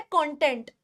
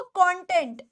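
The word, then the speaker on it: content: आ जाइए, ये वर्ड दिया गया है आपको कंटेंट या कंटेंट, दोनों दो प्रोनाउंसिएशंस हैं और दोनों के हिसाब से इसका मीनिंग बदल जाता है।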